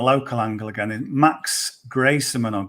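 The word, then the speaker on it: Greyserman: The other guy, we're playing the local angle again, is Max Grayserman or Grieseman. Okay. Not Antoine Griezmann, it's Grayserman. I mean, who knows how you pronounce it, because he's got some interesting family history.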